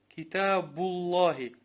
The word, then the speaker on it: كتاب الله: Китабуллахи. كتاب. Да, вот слово. Смотри, Китабуллахи, вот это называется ляму тавхим. То есть грубая лям. Когда мы говорим Аллах, то есть лям произносим грубо, а когда произносим мягко.